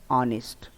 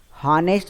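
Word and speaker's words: honest: अगला दिया आपका यहाँ पर ऑनेस्ट। हॉनेस्ट मत पढ़िएगा, ऑनेस्ट। उच्चारण पर काफ़ी ध्यान से सोच समझ कर करिएगा, ऑनेस्ट से पढ़ेंगे। इसमें आपका एच साइलेंट होता है, ओके, याद रखिएगा।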